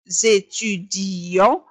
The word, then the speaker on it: étudions: alors nous étudions وتنطق هكذا nous étudions. نضغط قليلا على الإي لكي نبين أن هناك double إي وليس إي واحدة.